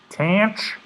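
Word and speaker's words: tanh: like cinch there is the hyperbolic tangent which is pronounced tan and then we have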